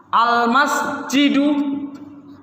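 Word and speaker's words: المسجد: Apabila alif lam qamariyah, lamnya terbaca. Al-masjidu.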